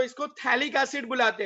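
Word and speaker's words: phthalic: P silent है, याद रखो, थैलिक एसिड बुलाते हैं, P साइलेंट।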